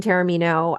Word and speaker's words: Taormino: It's Taormino. Well, it's Taormino, but Taormino is way closer than a lot of people get. Okay. A lot of people. And then I'm on social media at Tristan Taormino.